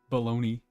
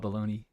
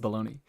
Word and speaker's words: Bologna: I'm going to call it Bologna. Is that I don't I I've never seen it as a city. Is it actually just straight up? No. Okay. It is not just straight up pronounced baloney.